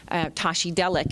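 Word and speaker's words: Tashi delek: by a Tibetan you know you're you're saying Tashi delic is how you say hello but you say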